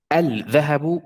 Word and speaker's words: الذهب: Al-dhahabu is really strong is really like very, very hard to say. That's why we neglect the L, the lam here, and we go to the. Al-dhahabu. Al-dhahabu.